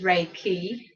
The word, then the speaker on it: Reiki: way it's pronounced is Reiki because it's got the Japanese underlying pronunciation it's based in ancient